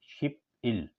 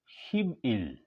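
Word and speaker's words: 십일: एक यह हो 11 शिप इल इसको हम पढ़ेंगे शिब इल वजह ये है कि फिय के पीछे और आगे अगर वोवेल आ जाए फिर ये बे हो जाता है लिहाजा ये हो गया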